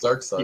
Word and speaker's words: Darkseid: Like, is it Side or Seed? Dark Side. It's Dark Side.